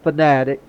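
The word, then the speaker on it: Fanatec: Logitech equipment is good the uh fanatic and that's the way you pronounce it fanatic um steering wheels are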